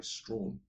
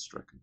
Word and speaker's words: Strachan: I don't think it's pronounced Strawn. The ruckman. He's 28, he's thin, looks like Sean Wren. Now the club has realised that he's a good ruckman, a good player. His name's not Strawn, it's Strachan. It's pronounced Strachan. It's a Scottish name, like Gordon Strachan.